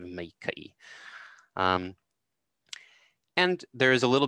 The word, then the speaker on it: maikaʻi: So you often hear meike'i instead of meike'i.